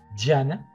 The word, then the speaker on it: Jnana: pero esta escuela Jnana, la pronunciación es un poco difícil porque es como Jnana, hacía especialmente énfasis en la práctica de la meditación, ¿sí?